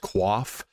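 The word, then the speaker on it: coif: is the padded you might call it a qu it's actually pronounced quaf so a padded quaff uh now the quaf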